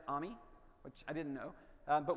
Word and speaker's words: AMI: special ami or as AWS it turns out they pronounce it ami which I didn't know